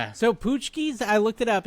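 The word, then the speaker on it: pączki: So, Poochkis.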